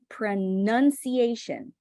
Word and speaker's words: pronunciation: pronunciation pronunciation okay and the shoe sound is not sure it's kind of like Shu okay pronunciation like this this needs to be happening with your lips pronunciation renunciation okay and it's not pro it's pronun like you're trying to skip all those vowel sounds vowels are holistic okay like imagine that you're skipping everything I think Metro just